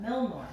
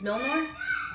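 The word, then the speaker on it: Mjölnir: Milmore. I always pronounce it wrong. It's Milnor.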